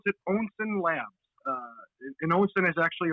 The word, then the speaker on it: Onsen Labs: We pronounce it Onsen Labs.